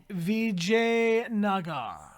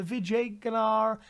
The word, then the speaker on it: Vijayanagar: Anybody want to take a guess at the pronunciation of this Indian city? This is Vijayanagar.